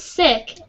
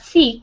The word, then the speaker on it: sick: mm-hmm so for example this is sick it's not seek circuit yes sick sec